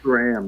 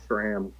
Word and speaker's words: SRAM: It's SRAM, not SRAM. Speaking of which, but Yeah. wrong pronunciations that I always do.